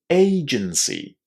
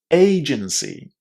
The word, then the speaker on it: agency: Agency. Agency. So that first A is pronounced as well an A exactly in the same way as the letter A in the English alphabet.